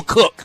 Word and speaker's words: Koch: Bill Cook. Remember Bill Cook, Koch? Yeah. The cross-country guy? Yeah. That's who I'll be. I think he's pronounced Coke, but other than that, I got the right spelling.